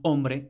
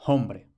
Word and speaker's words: hombre: misma forma que nosotros escribimos hombre con H, pero pronunciamos hombre y no hombre.